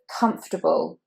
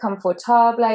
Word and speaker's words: comfortable: Number 4 is comfortable. So you don't want to say confortable or comfortable, so it's comfortable. Now that A is actually a schwa.